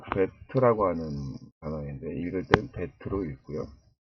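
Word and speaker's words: בית: 이응, 한글의 이응이나 또는 종종 묵음이 또 합니다. 그럼 두 번째로는요, 베트라고 하는 단어인데 읽을 때는 베트로 읽고요.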